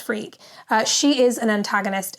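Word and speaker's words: Freke: It is pronounced freak.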